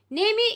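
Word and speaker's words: Nîmes: mr alphonse due date born in nang naemi nemi is the pronunciation they have given the pronunciation as well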